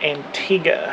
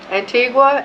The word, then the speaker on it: Antigua: You do pronounce it, Antigga. According to the locals. There you go. Antigua is how they told us to say it on the ship and the locals say that's wrong.